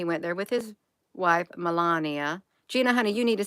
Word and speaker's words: Melania: there with his wife Melania Gina honey you need to say her name right her name ain't Melania it's melan IA did I say it